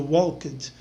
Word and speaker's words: walked: Esse KED no final do walked, normalmente ele se pronuncia um pouquinho mais rápido. Tá? Você fala walked. Tá? Você não fala walked.